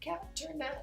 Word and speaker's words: Kat Tornat: I always say, Kat Tornat, it rhymes.